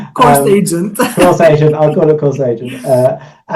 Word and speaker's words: Course Agent: So in terms of how it got to Course Agent Course Agent AI, I think the AI is silent at the moment because it's Course Agent.